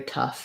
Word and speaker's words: tough: And then for tough, here we are with American spelling, very tough, right? That one's going to sound like uff.